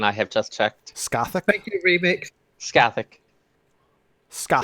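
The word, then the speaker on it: Scáthach: Scahawk. Future waifu. Future waifu. Anyway, you you fight uh Lolita Harlequinn. Uh, and that is a battle. Uh, Scathic is the pronunciation. I have just checked. Scathic.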